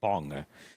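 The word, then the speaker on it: Bunge: dude called Alexander von Bung, which is an awful name. I guess I could pronounce the E and call it Bungie, but I much prefer Bung.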